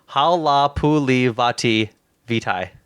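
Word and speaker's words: Halapoulivaati Vaitai: Okay, I'm gonna take the second here and pronounce this right guard's name right because I feel like a dickhead. Halapuli Vitae.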